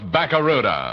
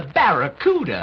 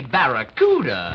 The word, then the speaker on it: Barracuda: And right now, I'm giving the best deal ever on that new fastmoving Plymouth Fastback, the Plymouth Bakaruda. Hey, man. The name of the Plymouth Fastback is the Barracuda.